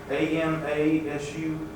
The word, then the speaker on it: Amasu: How do you pronounce that? Dromaa? AMASU?